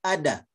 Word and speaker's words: udder: Can you say ada?